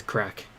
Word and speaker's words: craic: Yeah, crack. No, CRAIC actually is how you say it's crack.